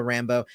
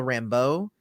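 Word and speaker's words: Rambeau: ahead and say that i've always i've always read her name as monica rambo and not how they're pronouncing it in the show which is rambo which is kind of annoying to me it should be rambo not rambo it's where the where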